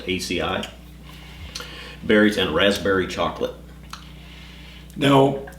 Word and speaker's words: acai: I also have in my notes with the rose hips and the hibiscus is ACI berries. It looks like acai, A-C-A-I. I think it's actually pronounced ACI.